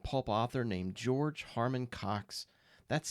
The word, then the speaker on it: Coxe: Today, my main feature is on a New York crime fiction and pulp author named George Harmon Coxe. That's spelled C-O-X-E.